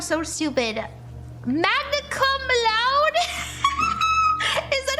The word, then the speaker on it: magna cum laude: Magna cum laude?